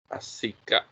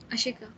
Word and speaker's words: Ashika: ไหนชื่อ Asika. Asika, right? Can I pronounce correctly? Asinka or Asika? Ashika.